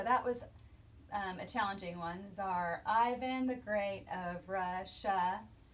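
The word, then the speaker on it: Czar: Tsar Ivan, even though it's pronounced Tsar, it starts with a C, so we did Tsar, and then an I for Ivan, the Great of Russia.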